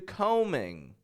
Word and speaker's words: combing: of their hair well combing com combing my hair I don't release that bee I don't release the bee combing um maybe he